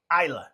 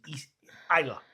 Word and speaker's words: Islay: So it's the Islay instead of Islay. Islay is the way it's spelled.